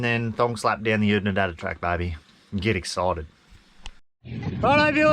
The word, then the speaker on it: Oodnadatta: to get the iconic photo next to the Oodnadatta track sign. What do you reckon, guys? Hey, Phil, say it again, mate. How do you say it? Oodnadatta.